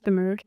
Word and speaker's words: Kimmerer: I've read a lot by the botanist, I'm probably going to pronounce her name wrong. Robert Kimmerer. Is it Kimmerer? Kimmerer.